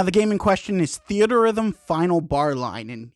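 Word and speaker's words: Theatrhythm: game in question is theater Rhythm final bar line and yes that's how it's pronounced It's a combination of theater and Rhythm because it's a rhythm game if you're interested there's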